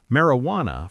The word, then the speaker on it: marijuana: Marijuana from Spanish. The J makes an H sound.